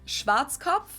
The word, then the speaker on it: Schwarzkopf: German, we pronounce it Schwarzkopf, which literally means black head. I was wrong. Schwarzkopf. English native speakers usually pronounce it Schwarzkopf or Yeah. Schwarzkopf or something along those lines.